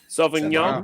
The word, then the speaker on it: Sauvignon: How do you pronounce that? Sauvignon.